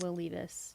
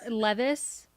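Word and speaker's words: Will Levis: leave this I'll tell you that it's not will leave us Jake it's not he's not him you're pronouncing that name and it's just uh me yes Levis that shows you how little I've like ever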